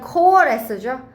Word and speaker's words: coalesce: 이거 그냥 coalesce죠. R이 발음이 안 납니다.